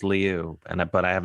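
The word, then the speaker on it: Lieu: uh who else um congressman Ted Leu or Ted Lou as most people call but I went to high school with him and I swear it's pronounced Leu and but I have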